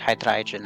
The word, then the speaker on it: Hydreigon: I've heard someone pronounce it Hydreigon, and I've just been going with that because it sounds cool.